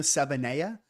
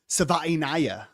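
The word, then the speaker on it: Savaiinaea: I for the longest time I thought it was Jonah Savanaya, but apparently someone asked him at the combine, and apparently it's Savainaya or something like that.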